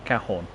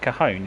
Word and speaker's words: Cajon: Apparently, I think it's meant to be Cajon or Cajon. Someone can't spell. There's a Sheerness on Sea service, which will be coming in the next couple of minutes. It's pronounced Cajon, is it?